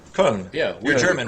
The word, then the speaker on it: Köln: Cologne. Yeah. How do you say it? Köln. Köln.